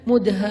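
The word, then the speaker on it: مدهامتان: Bacanya juga harus panjang karena dia rimbun banget. Sehingga bacanya Mudhammatan.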